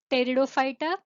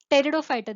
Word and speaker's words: Pteridophyta: So they are differentiated into Thallophyta, Bryophyta, Pteridophyta, Gymnospermy and Angiospermy. The 5 classes: Thallophyta, Bryophyta, Pteridophyta. This is pterido, it is not pterido, it is P is silent here.